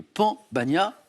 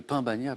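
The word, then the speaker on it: pan bagnat: Et c'est le pambagna. Ne dites pas le pain bagna, bien sûr. D'ailleurs, Stéphane a très bien prononcé.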